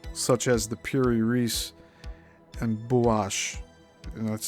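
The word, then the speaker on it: Buache: existence of maps such as the Pirase and Bash and that's spelled B U A C H E and parenthesis.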